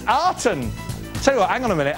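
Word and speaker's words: Aten: Aton the solar disc is it aan or is it Aton oh it's Aton tell you what hang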